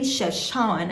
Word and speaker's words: Chefchaouen: Now between Chefchaouen and Tangier, it was 2.5 hours.